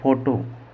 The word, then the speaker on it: photo: और एक होता है, जैसे मैंने लिखा PHOTO, फोटो, तो इसको हम बोलेंगे फ़ोटो।